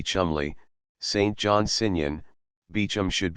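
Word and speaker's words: Cholmondeley: air should be air Cole Mandy should be Chumley St John San beum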